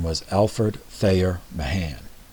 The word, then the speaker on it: Mahan: This admiral's name was Alfred Thayer Mahan, M-A-H-A-N. I've also heard it pronounced Mahan, or Mahan, whatever.